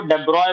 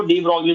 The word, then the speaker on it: de Broglie: De Broglie, because of its spelling, otherwise उनको डेब्रॉय बोला जाता है, डेब्रॉय। ठीक है, स्पेलिंग से आप उसको डी ब्रॉगली भी बोल सकते हो।